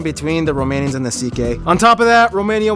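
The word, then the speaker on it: Székely: Yes, that's how you pronounce it. CK.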